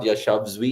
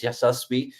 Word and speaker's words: Yashasvi: Keep calling him Yashasvi. And I was just like, it's not Yashasvi, it's Yashasvi. But look at what he's done.